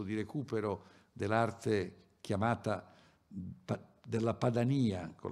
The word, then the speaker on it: Padania: a questo percorso di recupero dell'arte chiamata della Padania con l'accento sulla i che fu intrapreso da Roberto